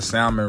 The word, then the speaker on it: salmon: I could get the salmon ready yeah I pronounce the L and salmon if you don't like